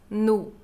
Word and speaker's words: no: Aqui minha pronúncia é bem marcada como nu e nus, porque nós brasileiros nunca vamos pronunciar no ou nos, um o bem feito. Vamos pronunciar quase um u, então vamos falar no restaurante, nos restaurantes.